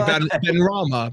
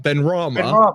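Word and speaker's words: Benrahma: again Ben was it oh Ben you say Ben Rama Ben Rama yeah imagine the comment saying and and it's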